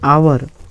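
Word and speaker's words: hour: पे आवर, ठीक है, इसका जो प्रोनाउंसिएशन होगा सर आप करके देखेंगे तो क्या आ रहा है, आवर, क्या आ रहा है, आवर। तो आ जो है वो कहाँ से आ रहे हैं, आ से लेके आ के बीच में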